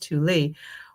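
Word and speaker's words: Thule: Well, the author says, "Well, NASA apparently did not realize that ultimately, pronounced Tuli, was a term used by the forerunners of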